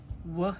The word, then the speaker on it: were: All right, that W is making it sound WW. This eer is kind of making one sound. It's not going e wer where it's going w. It's making one sound. So, it gets one box and both of them get hearts. This e is making no sound.